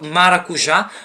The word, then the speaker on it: maracujá: sílabas são divididas OK Elas são divididas em oxítona né que é No caso quando a última sílaba é tônica é no caso exemplo da palavra maracujá né que ela tônica né